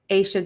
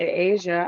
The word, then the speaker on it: Asha: So, justice for Asha Degree. And I'm happy you said I've been saying the baby's name wrong. I said Asia.